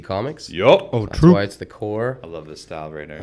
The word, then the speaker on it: Corps: know you read something says cor PS you want to say the corpse in the description is I will be saying the core and I word I'll